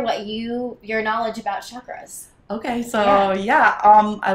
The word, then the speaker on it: chakra: to explain yeah so with our beautiful american accents we say kind of a chakra uh but a sanskrit term is more chakra uh yeah for today